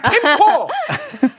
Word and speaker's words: 캠코: 이 전체의 부채 금액 캠코가 아니라 캠코. 발음 정확하게.